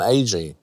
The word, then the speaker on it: Agee: Now, I pronounced that correctly, Roy? That is correct, yeah, Roy and Agee. Agee.